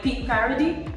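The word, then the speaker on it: Pic Paradis: And Simas has been trying to help me pronounce the French one. It's like Peak Paradis.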